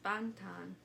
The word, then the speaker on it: Bangtan: I don't know if it's Bangtan or Bangtan because they say it in the middle. It's Bangtan. That's not how A.R.M.Y says it.